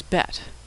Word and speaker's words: Bet: The second letter in the Hebrew alphabet is Bet. Bet makes two different sounds, B as in boy, or V as in victory.